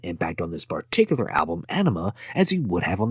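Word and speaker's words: Ænima: releases speaking of animal which is how the band has pronounced it it is a combination of two words Ana spelled without an e and enema now I don't think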